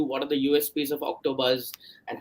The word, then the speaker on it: OktoBuzz: If you look at OktoBuzz, the name it rhymes very well with the word octopus.